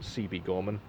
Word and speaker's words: Siebe Gorman: Quick note, it's technically pronounced Siebe Gorman, but that's kind of cringe, not gonna lie.